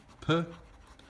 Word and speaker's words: peut: It's je peux, tu peux, il, elle, on peut. Look at the spelling. They're pronounced the same, but the spelling is different.